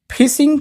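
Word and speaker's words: phishing: देखिए ये मछली वाला फिशिंग नहीं है। ये अलग फिशिंग है। मैं आपको पहले ही बता देता हूं। बहुत सारे लोग यहां पे कंफ्यूज हो जाएंगे। इसका भी प्रोनाउंसिएशन फिशिंग ही है।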